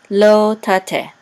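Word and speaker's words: לא תטה: This hay will be silent. Ta, te, okay, lo tate, lo tate, and lo tate has a munach.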